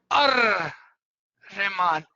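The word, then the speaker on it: الرحمن: If what is written over is Al Rahman, Al Rahman. But if you are saying it together, it would be Ar Rahman.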